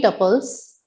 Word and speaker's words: tuple: Here we have created 3 tuples. You can also pronounce it as tuple.